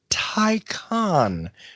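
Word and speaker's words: Taycan: first fully electric car the tie con that's T a YCA and icon that's the right way to say it trust me I did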